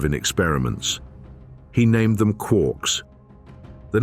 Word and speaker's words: quark: Three quarks for muster mark, the line read, a drunken cheer, a fractured poem. Gellman pronounced it to rhyme with fork, despite Joyce's original line clearly suggesting it rhymed with lark.